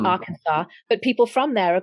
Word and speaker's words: Arkansas: So Arkansas is spelt Arkansas, but it's really Arkansas.